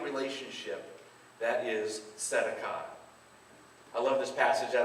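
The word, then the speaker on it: צדקה: The T is silent, but let's say it anyways. Tzedakah.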